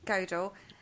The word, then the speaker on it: Gödel: You were right the first time. Gödel.